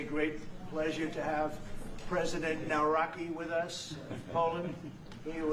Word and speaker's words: Nawrocki: It's a great pleasure to have President Nawrocki with us of Poland.